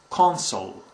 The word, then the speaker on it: consul: is usually a diplomat, and is pronounced differently than the first two. It's consul. So let me repeat them again: counsel and consul.